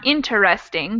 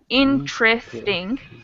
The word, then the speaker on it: interesting: And the same thing happens with interesting, not interesting, but interesting.